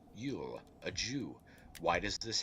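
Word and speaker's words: Luil: english cannot remove it it is yule l-u-i-l pronounced yule a jew why does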